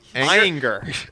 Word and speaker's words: Ayinger: It is Ayinger.